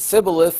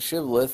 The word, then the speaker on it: shibboleth: And if they said sibboleth, they would get killed on the spot. And if they said shibboleth, they would be allowed to pass because they knew that they were from Gilead.